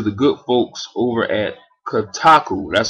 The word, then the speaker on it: Kotaku: This was revealed thanks to a retail poster for the game that was sent in to the good folks over at Kotaku. That's spelled K-O-T-A-K-U.